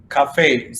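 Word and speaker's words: café: Spanish you know what how do you pronounce this e Cafe yeah so if you compare this e with the other regular e there's going to be a difference all right fun books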